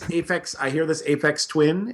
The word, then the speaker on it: Aphex Twin: I hear this Aphex Twin.